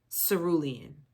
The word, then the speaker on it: cerulean: Cerulean. That's how you pronounce it.